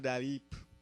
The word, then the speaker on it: Dalip: He told me one day, you know Dalip? He called me Dalip. I don't know why until recently I found out that is how my name should be. That's how it's spelled. It's an Indian name.